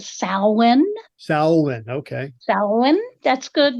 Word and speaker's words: Samhain: And we actually pronounce that Samhain.